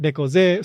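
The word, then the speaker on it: 猫背: Again, neko, cat, ze, like back, or usually se. Yeah, se. Yeah. In this context, just slightly different pronunciation, but nekoze.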